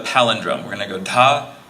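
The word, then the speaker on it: dha: And if you hear a little breathiness, there's that aspirant syllable that we have from Sanskrit-based languages. So in English, we usually write D-H-A, D-H-I-N for da and din.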